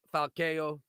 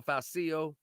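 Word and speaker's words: Falcão: So co-main event, I believe, Volney versus Falcao or Falcio, whichever way you say it properly.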